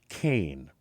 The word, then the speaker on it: Cain: bouncing ball the This Woman's name is camber Kain now keep in mind this is spelled with a k k a m b